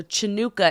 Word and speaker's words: Chanukah: So Chanukah is just Hanukkah with a CH because CH is, what is it?